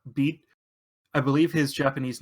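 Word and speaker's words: Bede: over to the the the cocky rival is pronounced beat I believe his Japanese name is also beat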